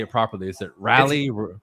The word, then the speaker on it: Raleigh: Is it Raleigh? It's Raleigh.